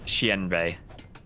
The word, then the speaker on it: Xianbei: I was told to pronounce it, the X is kind of like an SH sound, and it's like Xianbei. Yanbei Raiders. Yeah. Like the IAN makes kind of rhymes with pen, kind of an EN sound, and then Bay is like Bay.